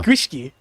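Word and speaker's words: gwyllgi: the Irish Isles there, but they do not pronounce them the same. Yeah. It looks like Gwilgi, but it's Gwishki.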